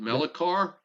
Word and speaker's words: Melichar: I think that's how you pronounce it, right? I believe it's is it Melicar? Melichar. Yeah, I think it's He said, Melicar.